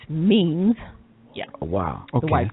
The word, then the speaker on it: memes: Most people pronounce it as mems, but it's memes.